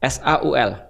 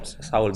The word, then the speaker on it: Saul: Sogul tulisannya. Saul. S A U L. Oh, Saul biasa. Saul. Nah, Saul ini lahirnya di Adana, Tarsus.